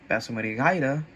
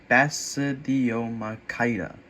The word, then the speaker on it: Basidiomycota: Now, Basidiomycota Basidiomycota That's how you pronounce it.